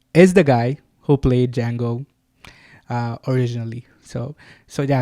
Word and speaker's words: Django: what's your name and he says Dango and do you know how it's spell and he says yeah TJ a n g o the D is silent the guy who asks